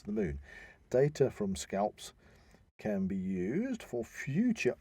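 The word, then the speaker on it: SCALPSS: now we have the I don't know if you'd pronounce this by its letters or its name it's the scap scaps scalps scalps it's the s c a l p P SS okay scalps uh will capture images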